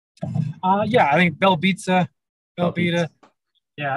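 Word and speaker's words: Belbiță: Is it Belbita? Yeah, I think Belbita. Yeah, I think they say Belbita. It's like pizza.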